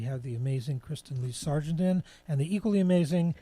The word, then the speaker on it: Sergeant: name is Kristen Lee Sargent k-ras Tem le e like isn't peggy lee and sergeant like the army ser geant and even if you